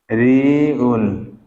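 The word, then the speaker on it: 리을: দ্বিগুত দ্বিগুতে কি হবে দীগতের পরে আসবে কি ঋউল ঋউলি কি হবে র হবে তাহলে দেখেন এখানে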